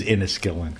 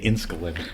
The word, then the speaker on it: Inniskillin: inkin for me inniskillin it is inniskillin cuz that ey is in there cuz I think a lot of people say incal yeah they kind of skipped the middle or missed the end